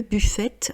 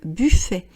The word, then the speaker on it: buffet: Mais sinon, on ne dit pas le buffet, on dit le buffet.